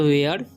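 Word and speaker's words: where: वेयर, जब भी ई आर ई आए लास्ट में तो उसका उच्चारण ए हो जाता है। ठीक है, तो वेयर।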